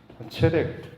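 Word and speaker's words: צדק: 히브리어 단어로 이제 설명을 드리면 하나는 체데크하고 그다음에 또 하나는 야샤르라고 하는 것인데요. 체덱, 채택하다 할 때 체덱이라고 발음이 있는데 이거는 이제 제사를 통해서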